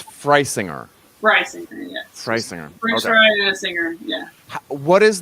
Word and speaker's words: Frisinger: they dropped the e for the germans it would be free singer but it's just right singer here so the irony is that yeah we don't even spell it right and everybody gets it wrong too so it's not just you so the answer is freisinger bryce ingredients yeah what